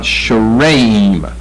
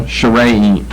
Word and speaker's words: Sharaim: I've got sharaim, short A, then long A, accent the middle syllable, sharaim.